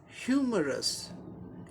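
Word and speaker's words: humorous: 3 syllables का word है, इसलिए फर्स्ट सिलेबल पर स्ट्रेस मार्क दिखाया गया है, यानी फर्स्ट सिलेबल को स्ट्रेस देके, जोर देके प्रोनाउंस करना है। ह्यूमरस, ह्यूमरस, ह्यूमरस, ऐसे हो गया।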